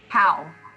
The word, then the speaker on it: Howe: last name wait you're muted so hold on how how proud okay so if you're if you have seen anything you've i'm sure you have seen her nail fees how polished because they're everywhere and they're like the